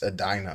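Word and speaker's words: Edina: And I said Edna, but it's Adina, I guess, is the way you pronounce that that city.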